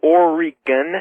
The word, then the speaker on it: Oregon: You got the word answer for night two out here in Portland, Oregon. Yes, sir. Um I'd first like to tell everybody it's pronounced Oregon, not Oregon.